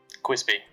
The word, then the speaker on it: Cwispy: Quispy with a W.